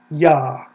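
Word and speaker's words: Yah: there it is yeah that is the first syllable of the Divine Name yeah we know it absolutely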